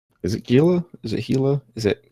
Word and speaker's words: Gila: Some folks want to call it Gila, some want to call it HEEELAH, Hilla, what have you, but it is what it is.